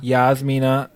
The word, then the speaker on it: Yasmina: And her name is Jasmina Saavedra. Or Yasmina. Yasmina Saavedra. That's how I say her name.